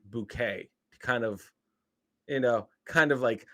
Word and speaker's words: Bucket: but the main character was Mrs bucket but she always pronounced it bouquet kind of you know